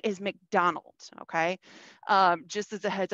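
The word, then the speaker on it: Macdonwald: Just as a heads up, it's not spelled like McDonald of like McDonald's, you know, like I'm loving it with the golden arches. It's spelled like McDonwald, which is just kind of weird, but that's the way of it.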